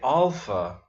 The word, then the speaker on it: alpha: But actually we would say alpha in Greece because, at least in ancient Greece, because the first letter of the alphabet is a long A, or darker A as in father.